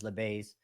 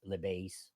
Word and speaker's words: Lebeis: Well, the American saying is Lebeis. In Brazil is Lebeis.